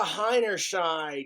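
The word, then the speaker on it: Heinerscheid: she is the so Alysa hiners Shide that's how you I had a hard time figuring out how to pronounce her last name but H their sh sounds German no offense and Germans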